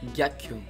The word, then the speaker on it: ghiaccio: Ghiaccio. So yeah, you got right the first beat, so the first part is right. This is what you didn't get right. Ghiaccio. Alright, so the correct pronunciation is ghiaccio, which means ice.